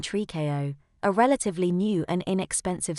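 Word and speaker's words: tricot: like a little girl nylon Trico pronounced nylon tree KO a relatively new and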